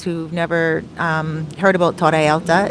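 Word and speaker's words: Torre Alta: of you guys who've never um heard about toraelta it's spelled t-o-r-r-e alta a-l-t-a alta is like high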